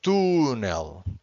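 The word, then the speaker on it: túnel: have to know is every time you're dealing with a Portuguese word that takes an an accent you know that you have to stress that syllable okay that is something that you should know for instance here this word it's tunel to Tel without the accent this would be tunel because the word ends with an L if the word ends with an L we always have to stress the final syllable um but uh please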